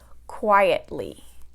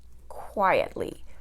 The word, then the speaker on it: quietly: 3 syllables, quietly. That's 3 syllables, and it's going to have the stress on the first syllable because it's a 3-syllable word that ends with ly. Quietly, quietly, the first syllable, right?